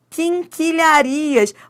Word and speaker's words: quinquilharias: Qu, ó, o qu, porque você não pronuncia esse u.